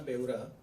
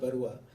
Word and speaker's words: बेउरा: In fact मैं एक थोड़ा सा correction, it's बेउरा नॉट बरुआ. बरुआ लोग असम से होते हैं, मैं उड़ीसा से हूँ.